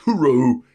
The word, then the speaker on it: hooroo: In the words of Sue Kane from the land of down under, you pronounce it O-O-R-O-O, but I think it's spelled with an H. Hooroo.